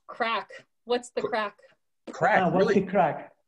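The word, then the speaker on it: craic: i can type here what's the crake except it's pronounced crack what's the crack crack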